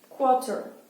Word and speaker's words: quarter: Vous remarquez donc quarter, le début ça se dit un peu comme quadrilatère. D'accord ? Quarter. Ici il y a un R. En réalité on ne le prononce pas vraiment.